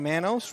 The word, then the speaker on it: Manos: JJ Manos rhymes with Thanos.